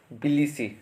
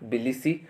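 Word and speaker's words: Tbilisi: पहला वाला टी है बिलिसी, टी साइलेंट रहेगा, बिलिसी।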